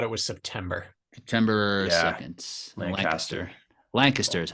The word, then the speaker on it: Lancaster: Lancaster is how you say it.